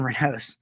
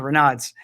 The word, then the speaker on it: Raynaud's: Brumley that you read, we're doing a study on Raynaud's or Raynaud's. So it depends on what country you're from, how you say it.